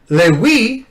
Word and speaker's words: Levi: He said, "How can he try to rhyme Lewi?" Because he was pronouncing Levi as Lewi.